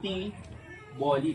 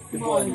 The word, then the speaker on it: T'boli: you when you see that word you always pronounce it as tea bolly parang may accent on tea tea bolly pero ang tama pala t bolly lang parang Laan Laan Laan same principle Yes